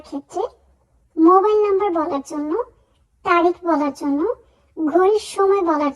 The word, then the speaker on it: tre: সময় ভুল করে থাকি আমরা সিম্পলি বলি কিন্তু উচ্চারণ হবে ত্রে আমরা এই উচ্চারণ করার ক্ষেত্রে একটু তাড়াতাড়ি উচ্চারণ